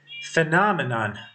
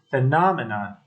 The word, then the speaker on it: phenomenon: um singular form its phenomenon phenomenon is on the letter N phenomenon phenomena and the Clause